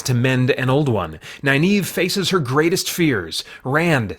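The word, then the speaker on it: Nynaeve: read Moraine Lan naive it's spelled kind of naive but naive is how they say it naive eguain Perrin and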